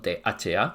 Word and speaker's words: tha: en realidad no son ta son tha se pronuncia cada letra por separado y firmar un acuerdo